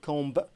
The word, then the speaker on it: comb: B في آخر هذه الكلمة لا تنطق، لا نقول comb بينما نقول I comb my hair.